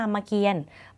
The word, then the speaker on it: รามเกียรติ์: ก็ เฮีย รอ เปลี่ยน ตัว นี้ ไม่ ออก เสียง อ่าน ว่า รามเกียรติ์ ไม่ อ่าน ว่า รามเกียรติ์